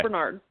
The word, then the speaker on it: Barnard: Yes, you pronounced both. Bernard.